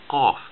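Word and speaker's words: ق: So this is like the letter K, K, K, but it's further back in the throat. You say K, K, K, K, K, okay? Qaf, qaf. You cannot pronounce it like letter K or else it will not make sense.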